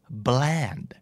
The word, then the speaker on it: bland: บ้างตัว B ก็สามารถควบ R ควบ L ได้นะครับคู่แรกนี้ถ้าเกิดออกเสียงเป็นตัว R นะครับจะหมายถึงยี่ห้อครับแต่ถ้าเกิดออกเสียงเป็นตัว L จะเป็น adjective แปลว่าจืดชืดไร้รสชาติไม่แซ่บน่าจะเดาได้ตรงคำว่ายี่ห้อเนาะนั่นก็คือ brand กับ bland b r a n d brandแปลว่ายี่ห้อ b l